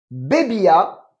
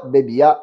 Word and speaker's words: bebía: No bebia, toujours avec l'accent sur le i, bino. D'accord? Je ne buvais pas de vin. No bebia bino.